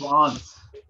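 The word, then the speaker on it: Wands: Pronunciation होती है इसकी वांस। डी इसमें साइलेंस रखते हैं, साइलेंट रहता है, तो इसको इस प्रोनाउंसिएशन जो करेंगे वो होगी वांस। वांस नहीं बोलेंगे, वांस बोलेंगे, ठीक है।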